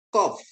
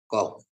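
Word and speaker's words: קוף: Kop ya, kop. Kop ya, kop. Pengucapan seperti Anda melafalkan quality. Q ya, Q. Ki. Q atau ki ya dalam bahasa Inggris.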